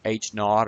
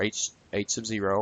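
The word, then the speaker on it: H₀: hypothesis usually labeled as H Sub Zero pronounced H naught or H sub 0 or null hypothesis is basically a status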